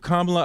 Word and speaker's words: Kamala: I think Kamala Harris. Kamala, you said it right the first time.